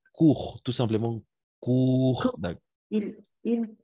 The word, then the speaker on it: court: Et on va prononcer court, tout simplement court.